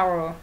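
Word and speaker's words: hour: knife từ no đấy Từ our có chữ H nhưng mà âm h cm nó đọc là our nó bằng nó đồng đồng âm với từ our chúng của chúng ta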